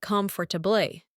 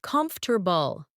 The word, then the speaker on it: comfortable: Some people read every letter like comfortably, but native speakers often say comfortable.